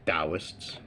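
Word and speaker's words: Taoists: Then you got your tauists, Dowists, if you prefer that pronunciation.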